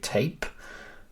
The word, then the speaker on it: Tapé: I'm sure you love it when people call you Patrick Tapé, but it's got the accent on the end.